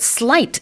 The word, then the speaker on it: sleight: But sleight is spelt S-L-E-I-G-H-T, not S-L-I-G-H-T, Yeah. although it's pronounced like that.